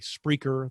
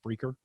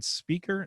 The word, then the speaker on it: Spreaker: that's who gallop uses just spreaker yeah i'm saying it right did you mean speaker no spreaker because all the other english words were taken i think at that point so spreaker um podbean